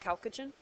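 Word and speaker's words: chalcogen: the oxygen group but it's known as the calogen group it looks like chalogen but it's pronounced calogen and then last couple we' got the halogens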